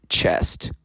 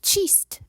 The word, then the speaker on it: Cheest: This is our talent coordinator, Chest. It's cheest, actually. Slight mispronunciation, but it accomplishes the same thing.